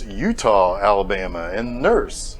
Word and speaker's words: Eutaw: frankly come on guys i would think that utah should be spelled like the state but the do i know anyway utah a town that as